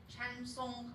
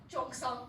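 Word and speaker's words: cheongsam: We got the Chansong, my pronunciation is horrible, the traditional Chinese dress. Chongsong, yes, thank you very much, Victor.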